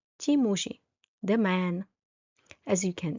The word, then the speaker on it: ti muži: And the one exception for the animate masculine nouns is pronounced in a soft way and it ends in a soft I.